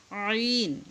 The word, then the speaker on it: ع: আইন, এটা আইন গলার মধ্যে ডাবিয়ে তারপর উচ্চারণ করতে হবে।